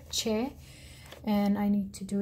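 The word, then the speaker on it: چ: three dots inside here and che so it's pronounced like an english church cho so again it has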